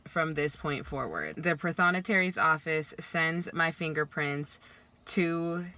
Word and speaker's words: prothonotary: while editing that i've been saying pathonatary wrong it's prothonotary there is an r in that word but i have not been pronouncing it because i am from